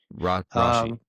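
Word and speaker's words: Rashee: I'm coming around on the the Rashi. Is that it? How you say it? Rashi. It's like it's like no emphasis. No emphasis on on either's elbows like Rashi rice.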